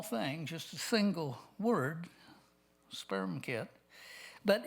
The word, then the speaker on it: SPERMKT: And if you're going to pronounce it, it has to be sperm kit.